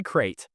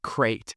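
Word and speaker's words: krait: honorable mention goes to the yellow lipped SE crate is that the spider no uh are you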